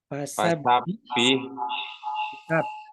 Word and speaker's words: fasabbih: Fasabbih bukan beh. Fasabbih.